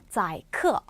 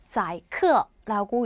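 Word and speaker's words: 宰客: 씌우다 중국어로는 이렇게 쓰고요 어떻게 읽냐 자이크 자이크라고 읽습니다 원래 어는 손님이란 거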